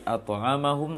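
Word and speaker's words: أطعمهم: At'amahum min.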